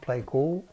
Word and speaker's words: Pleiku: I think the name of the place we're going is Pleiku, pronounced Pleiku.